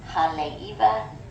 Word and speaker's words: Haleiwa: But if the W is in the middle of the word, it's a V sound. So this is haleiwa and pu'uvai, and that means heart.